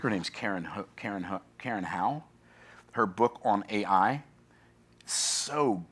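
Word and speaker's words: Hao: I think her name I think it's pronounced how how but it's spelled h AO and um one of the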